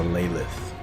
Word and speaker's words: Elaleth: Oh, it is a Elaleth. Okay. I heard Strictly Fantasy pronounce it like that. I wasn't sure if that was correct or not.